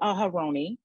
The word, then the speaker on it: Aharoni: Aharoni, did I say it right?